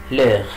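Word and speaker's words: l'heure: اللي هو بيتكلم على لغ. لغ معناها الساعة، يبقى هنا كلمة لغ يعني الساعة، هنا الاش ما بنطقهاش بقول لغ، يبقى لغ يعني ايه الساعة.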